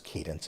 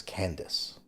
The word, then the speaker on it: Candace: told you I was I kept pronouncing it as Cadence it is Candice sorry so uh Candace